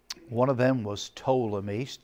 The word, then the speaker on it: Ptolemy: One of them was Ptolemy, spelled with a P, P-T-O-L-E-M-Y, Ptolemy.